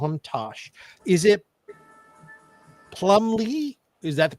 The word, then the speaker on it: Plumlee: Is it Plumbley? Is that the pronunciation? Right. You got it. Yeah. Plumley.